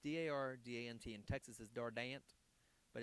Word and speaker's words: Dardant: And so it's Dardant. T is silent, and I'm on the Facebook and all the Twitter and all the different social media sites.